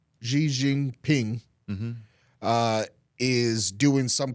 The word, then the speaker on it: Xi Jinping: I've also seen that the Chinese, how do you pronounce his name, Nathan? Xi Jinping. Xi Jingping.